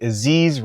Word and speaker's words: Aziz: It's your boy Aziz, rhymes with disease, back here again for another video.